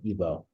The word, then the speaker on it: Igbo: it went to ebo then it went to Igbo right g is silent ebo so he's really arguing